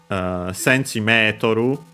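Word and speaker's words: センチメートル: Centimetru would be centimeter, the full word, accented on the Me.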